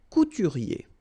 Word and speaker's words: couturier: Un dessinateur, and then un couturier. Remember, OU goes like OU, okay? Couturier.